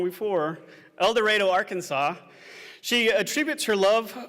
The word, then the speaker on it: El Dorado: Mary is from El Dorado, I said it wrong before, El Dorado, Arkansas.